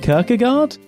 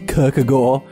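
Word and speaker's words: Kierkegaard: descartes epictetus sir and kirkegaard i believe it's pronounced Kirk a Gore but yeah that sounds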